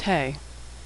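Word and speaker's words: ה: the hebrew alphabet is hey hey makes the sound of h as in hello like h in english hey is silent when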